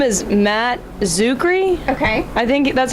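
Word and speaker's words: Czuchry: His name is Matt Zuckery. Okay. I think that's how you pronounce it.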